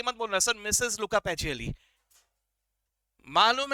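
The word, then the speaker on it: Luca Pacioli: अब प्रोनाउंस सही तरह से करना, ज्यादा अंग्रेजी स्टाइल में मत करना, नहीं तो पता चला बोलने लगा लूका पैचियोली, वैसा मत बोलना यार, प्रोनाउंसिएशन से कुछ अलग मीनिंग निकल आता है, ऐसा मत बोलना, लूका पैचियोली, ठीक है।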